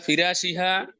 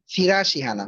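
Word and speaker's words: فراشها: ফিরাশিহানা, হ্যাঁ মানে উচ্চারণটা একটু বলতেছি, আস্তে আস্তে ঠিক হয়ে যাবে। ফিরাশিহানা, ফিরাশিহা, হ্যাঁ আবার ফিরাশিহা, উপর জি জবর, জবর জবর হ্যাঁ যখন হবে আলিয়া, তখন একটু মোটা হয়।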